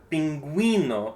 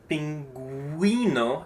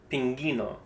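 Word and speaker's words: pingüino: And so these two dots just let us know that we pronounce the U. So we have pinguino and it's pinguino and not pingino.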